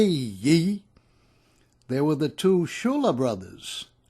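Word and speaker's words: Ciulla: and sibilant say ye there were the two Shula brothers spelled CI ull a but pronounced Shula sicilian fishermen from Florence Street one was Frank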